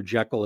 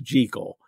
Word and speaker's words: Jekyll: He likes that rhyme, but that's just the way it's pronounced in Scotland. It's just Jekyll.